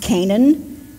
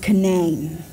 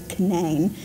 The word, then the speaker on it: Canaan: I talk but in West Virginia it's not pronounced Canaan it's pronounced Canaan we have a Canaan Valley spelled the same way it's canane so I always struggled with that when I